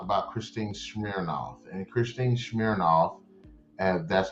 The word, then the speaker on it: Smirnoff: And Christine Smirnoff, and that's how you say it, was talking about doing another trilogy.